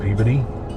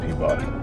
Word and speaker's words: Peabody: I'm in that place called Peabody that's how you say it that's not Peabody I was told but